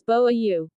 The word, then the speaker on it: booyah: Booyah, here is pronounced as boa-u.